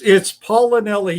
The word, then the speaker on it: Paolinelli: It's Paolinelli. You were so close. I thought you had it there for a sec. I was close. Paolinelli.